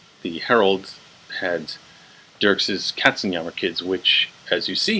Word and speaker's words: Katzenjammer: katsuyama two kids yeah so if you've heard of the Katzenjammer kids which is the system just gonna anglicize that because that's how it's usually pronounced so this was the